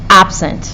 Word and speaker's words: absent: You'll notice that you have to pronounce the ab longer and louder than the other word, than the other part. So it is absent, not absent, not absent.